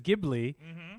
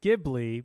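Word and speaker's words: Ghibli: it's like studio uh gii is which is gibli which Italian it's Italian it's gibli because it's a car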